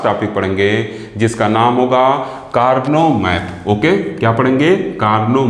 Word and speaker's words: Karnaugh: हम लोग पढ़ते हैं ऐसे लिखा तो ये वर्ड है लेकिन इसको पढ़ा जाता है कार्नो ठीक क्या पढ़ा जाता है कार्नो और आगे क्या लिखा